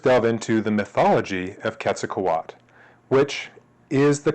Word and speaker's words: Quetzalcoatl: same let's first delve into the mythology of ketak Kat which is the correct pronunciation of this mythological deity the nahua are